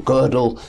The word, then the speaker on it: Gödel: And this introduces Kurt Gödel, yes. Another great mathematician, or Gödel, some people will pronounce him, very much so.